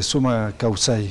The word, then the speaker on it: sumak kawsay: Sí, en quichua es Summa Causai.